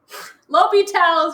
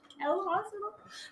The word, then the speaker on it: L'Hôpital: L'Hôpital's rule. L hospital? That was so funny. L'Hôpital's rule. That's how you pronounce it. L'Hôpital. It's the hospital.